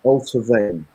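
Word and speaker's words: Allt-á-Bhainne: And it's pronounced Alta Vane.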